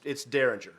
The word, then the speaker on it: Dareringer: Now, I looked to make sure I was pronouncing that right, because you don't know if it's that or Dareringer. It's Dareringer.